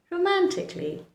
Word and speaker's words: romantically: Romantically. Romantically, not romantically. Do not say that. Romantically is the incorrect pronunciation. The correct pronunciation is romantically.